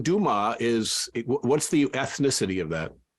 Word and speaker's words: Dumaa: My birth certificate spells it Dumas. But most people pronounce it Dumas, and that always drove me crazy. And so just to make sure that didn't happen, it's like, let's just spell it differently. So now everyone pronounces it the right way. Right. It's spelled like it sounds.